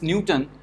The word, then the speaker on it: Newton: famous scientist so this newton as uh let's say uh we pronounce it newton so first syllable is stressed so you have to